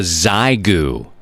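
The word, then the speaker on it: Xiegu: the states at mfj it's called a zyu it's spelled x i e gu it's a portable five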